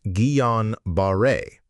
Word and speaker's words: Guillain-Barré: Gueon Baret, pronounced Gueon Baret syndrome, is a rare but